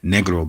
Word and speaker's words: Negro: First name or slave name was Negro, also pronounced Negro, but it's actually properly pronounced Negro because it's from the Spanish.